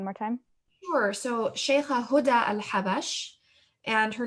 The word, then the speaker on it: Huda al-Habash: So Sheikha Huda al-Habash, and her name is spelled Houda, Huda, and al-Habash, A-L, and then Habash.